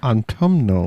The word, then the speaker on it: autumnal: guys i said it wrong again didn't i autumnal whatever that guy said craft beer of harvest